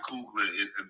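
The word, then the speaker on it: Coogler: So, um I I I think that um this this guy Cougler, is that how you pronounce his name? Cougler. That's correct.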